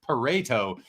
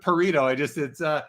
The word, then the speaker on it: Pareto: It's not Pareto, it's Pareto. Pareto. Thanks for clarifying, but I think I'm going to stick with Pareto. It rhymes with burrito and it's just more fun.